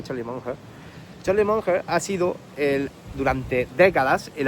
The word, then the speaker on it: Charlie Munger: Y es que realmente Charlie Munger, se pronunciaría Charlie Munger ha sido durante décadas el abogado principal, porque